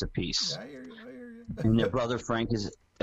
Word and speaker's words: Appice: I say Appice, by the way. That's how I pronounce it. Yeah, well, you're correct on one. If you talk to Vinnie, it is Appice. If you talk to Carmine, he'll yell at you and tell you it's Appice.